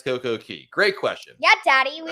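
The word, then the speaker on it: CocoCay: derek wants to know uh why do you pronounce coco k s coco key great question yeah daddy we all want to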